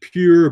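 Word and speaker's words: Pyure: e pi you're it's you can pronounce it pure but there's a lie between the P and the U and it's organic and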